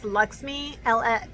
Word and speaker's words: LXMI: And they pronounce this Luxmi, LXMI. This is the Pure Melodica Melt.